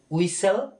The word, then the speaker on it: whistle: WHISTLE এটাকে উচ্চারণ করতে হচ্ছে উইসেল, ঠিক।